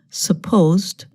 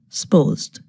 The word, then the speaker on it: supposed: 3:30 but it didn't here a two syllable word supposed becomes more like one syllable supposed I'm and